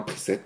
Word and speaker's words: preset: dit ça j'ai rectifié je dis preset pr i s e de te même si ça s'écrit pas comme ça c'est comme ça que ça se prononce à quoi ça sert